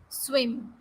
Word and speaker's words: swim: I put him in the bathtub to see if he could swim. It is swim. Not, swim is also mispronounced in some way, sim or something. It is not like that.